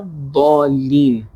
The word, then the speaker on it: الضالين: Everyone pronounced in a very perfect manner, but sometimes when we are extra precautious, some of the people are saying lean, and an extra accentuation is there.